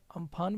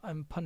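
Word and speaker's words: Amphan: इस तूफान का नाम, जिसे कि हिंदी में अगर आप लिखेंगे तो अम्फान भी लिख सकते हैं, इसका प्रोनाउंसिएशन है जो एम्फन है।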